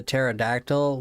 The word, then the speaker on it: pterodactyl: Why can't you Why can't you hear the pterodactyl when it goes to the bathroom? It's cuz the P is silent.